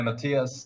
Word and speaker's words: Matthias: Yeah, Matthias, that's right, yeah.